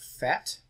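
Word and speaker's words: PhET: And this video is from a site called University of Colorado FET, P-H-E-T, it's spelled up there.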